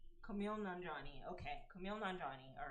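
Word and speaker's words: Kumail Nanjiani: Kumali Ali Nani. Okay, I'm sorry if I messed up his name. I'm so sorry. Kumali pronunciation.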